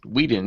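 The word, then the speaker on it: Whedon: some different news here um Josh Josh Weeden Weeden is that you say his name yeah so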